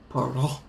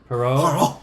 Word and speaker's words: Poirot: It's how do you pronounce the detective's name? Poirot. Poirot.